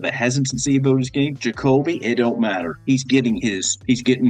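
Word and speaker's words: Ja'Kobe: I before you go on, I just got to say his name is Jacobe. His parents purposely said that they named him after Jordan and Kobe.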